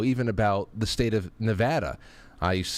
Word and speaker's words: Nevada: about the state of Nevada. I used to say Nevada and all that stuff. They said, "No, no, no, Frank. It's Nevada." Like, "Dad, add."